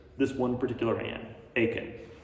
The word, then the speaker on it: Achan: And God shows Joshua that it's this one particular man, Achan, or Achan. It'd be a closer Hebrew pronunciation.